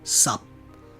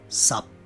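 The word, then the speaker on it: 十: practice the word 10 it's some spelled s ap please mimic my intonation and let's practice some some some some some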